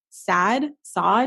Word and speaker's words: Saad: Saad. Do you know how to pronounce it? I'm not sure if it's Saad or Saad. Okay, it's SAAD.